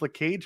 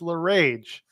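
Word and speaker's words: LeRae: got to stop trying Candace La Cage makes no sense it's Candace L rage why is it l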